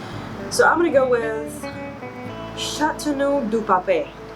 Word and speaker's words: Châteauneuf-du-Pape: Châteauneuf-du-Pape. Châteauneuf-du-Pape. So you actually read F at the end. Châteauneuf-du-Pape.